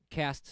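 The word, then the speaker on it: caste: you have today with that sort of case system i have a feeling i'm mispronouncing that though cast system yeah okay see i i remembered the word but i was mispronouncing it thank you illustrator um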